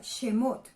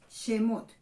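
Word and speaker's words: שמות: Estos son los nombres que en hebreo se pronuncia Shemot. Shemot.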